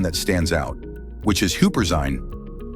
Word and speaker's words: Huperzine: focus on one that stands out, which is Huperzine, pronounced Huperzine.